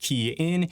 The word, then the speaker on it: Kian: Hey everyone, it's Kian for the Rideshare Guy, pronounced Kian.